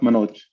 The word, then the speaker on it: Manoj: Yeah, it's pronounced Manoj.